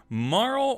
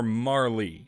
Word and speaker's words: Marle: alex question for you do you pronounce it marl or marley i always pronounced it marl uh i think i might yeah yeah i've always pronounced it marl too i've heard people pronounce it marley and i think if